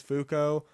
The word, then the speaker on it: Fuco: I think it's pronounced Fuco. I'm not really sure how else you would pronounce it, I guess, but that's how I pronounce it.